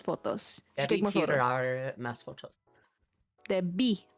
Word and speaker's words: debí: Debí. The accent is on the second syllable.